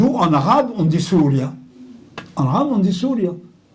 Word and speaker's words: Syria: Ils n'ont pas appelé tout à fait Syria la prononciation c'est souria parce que Y en grec c'eston c'est un ou Y en grec.